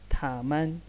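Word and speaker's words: 他们: तो ये भी ग्रुप ऑफ थिंग्स के लिए इस्तेमाल होगा, और ये भी इसकी प्रोनाउंसिएशन ऐसी होगी थामन, थामन।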